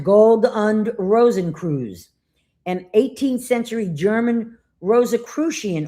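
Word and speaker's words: Gold- und Rosenkreuz: The Order of the Golden and Rosy Cross, pronounced Gold und Rosenkreuz, an 18th century German Rosicrucian order with alchemical and Masonic influences.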